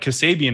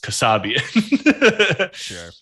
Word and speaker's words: Kassabian: what's honestly quite funny to me is like my family pronounces my name wrong. Like Kassabian is not the proper pronunciation. Sure. But it's like in English, that's how a K is pronounced. Right. But in Armenian, it'd be pronounced Kassabian.